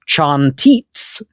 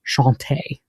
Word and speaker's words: Chantez: to sing, cantatis, became an Old French Chantez, pronounced chantites, spelled the same in modern French, but pronounced chanté, right? The Z became silent.